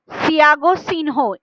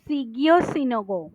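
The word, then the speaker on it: Shigeo Shingo: reduce human error and ইট was develop by সিয়াগো সিনহো from Japan sorry সিগিও এদের নামগুলো খুবই difficult pronounce করা তো সিগিও সিনোগো হ্যাঁ সিগিও সিনগো এর নামটা কিন্তু মনে রাখার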